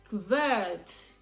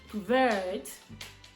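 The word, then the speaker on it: kvart: that's full have and convert that's one thing about Swedish when K and V or S and V comes together they want to pronounce it two and you will hear it distinctively convert convert to.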